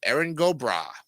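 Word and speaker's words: Erin go bragh: makes an a sound put it together it's pronounced eron gobra in modern usage the phrase is translated as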